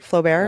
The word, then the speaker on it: Flaubert: and talking and it's like that to me is, I love the Flaubert quote. I just sort of said that really fast in case I'm mispronouncing it. French. Was that right? Flaubert?